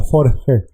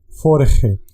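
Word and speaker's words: vorige: encontrarla faure o jorge prestar atención a la pronunciación es una efe como la muda jorge jorge y significa esto sucedió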